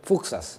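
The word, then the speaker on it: Fuksas: Da una nuova stazione che rispetto al progetto di Fuxas, come si pronuncia? Fuxas.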